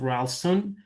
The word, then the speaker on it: Rawlston: Today we are we are actually joined by Janelle Rston. Did I pronounce it correctly?